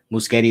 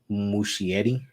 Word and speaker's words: Muschietti: Muschetti is pronounced Muschietti.